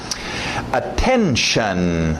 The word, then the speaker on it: attention: Attention, lembra do shun, esse T-I-O-N no final, né? Notion, station, relation, dedication. Shun, aquele som de X-A-N, shun.